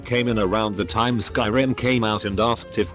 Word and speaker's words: Skyrim: he laughed condescendingly and said no I mean scrim thinking he was just mistaken I was like oh no it's called Skyrim no it's not it's pronounced script at that